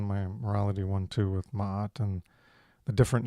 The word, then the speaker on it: Maat: you choose to pronounce you choose to use the name Mayet, Mayet. Is that right? Instead of pronouncing it as Maat, Maat, Maat. So why do you choose that pronunciation, that name, instead of the more common one?